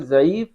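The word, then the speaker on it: ضعيفة: ज़ईफ़ा यानी कि उर्दू का ही लफ्ज़ है ज़ईफ़, ज़ईफ़ा। यहाँ पर हम दाल से इसकी प्रोनाउंसिएशन लेंगे, ज़ईफ़ा, ज़ईफ़ा।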